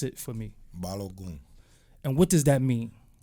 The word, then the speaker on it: Balogun: Pronounce it for me. Balogun.